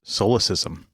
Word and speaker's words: solecism: And that word is solecism.